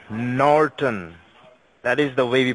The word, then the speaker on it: Norton: luckily it's n o R T Oh N Norton that is the way we pronounce it it's not Newton you got it now yes now tell me